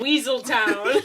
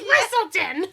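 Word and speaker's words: Weselton: It's like, they're like Weaseltown. It's Weaselton.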